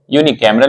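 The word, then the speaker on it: unicameral: उसको इंग्लिश में क्या बोलेंगे एक सदन को यून कैमरल बोलेंगे और द्विसदनीय को इंग्लिश में क्या बोलेंगे बाय कैमरल तो यून कैमरल की स्पेलिंग है यू एन आई सी ए एम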